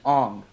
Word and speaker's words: Aang: are based off of eng would actually be pronounced on and um and in